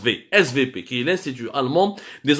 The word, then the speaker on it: SWP: fameux svp weight swp mais en allemand le w se prononcent vsv qu'il est cdu allemande